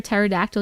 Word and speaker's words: pterodactyl: Why can't you hear a pterodactyl use the bathroom? Why, Tiffany? I'm waiting for the answer. Someone here remembers Moco Space? Because the P is silent.